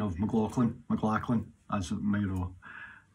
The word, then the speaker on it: McLachlan: Hi everybody, I've been asked to sing this song by Sarah McLachlan. That's my pronunciation of McLachlan, McLachlan, as it may know.